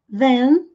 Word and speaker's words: then: Then. Then. N de navio no final. Then. Dan, ou com som a, sem pronunciar a letra E e termina com o som do N.